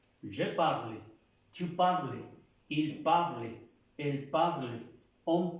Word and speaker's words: parles: Se pronuncia igual, tu parles.